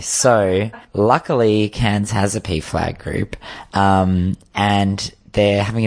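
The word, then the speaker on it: PFLAG: the right thing pf gal pf gal yeah p flag is better way better anyway so luckily cairns has a p flag group um and they're having a meeting it's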